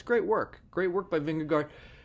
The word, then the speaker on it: Vingegaard: Great work by Vingegaard, or Vingegoo is, I think, the pronunciation.